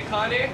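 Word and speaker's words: Kaneohe: seaworld florida no okay i can spell it but i'm not sure how to pronounce it that's k-a-n-e-o-h-e good very good connie everybody say kanye and two miles wide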